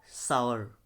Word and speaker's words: sour: अब इसको कई लोग शोर बोलते हैं इस तरीके से, SOUR को शोर बोल देते हैं हम, जो कि रॉन्ग है।